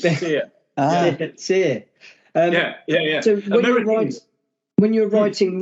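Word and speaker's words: SERE: So I was going to say, so you wrote the Siri, the survival manual? It rhymes with beer leaves. It's Sear.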